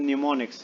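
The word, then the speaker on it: mnemonics: इट is they are usually refer to एज न्यूमोनिक्स. ये एम है, एम is actually silent in this.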